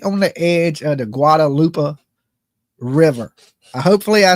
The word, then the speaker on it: Guadalupe: it sits right on the edge of the Guadalupe River. Hopefully I said that right. I didn't murder it too bad. Guadalupe, Guadalupe.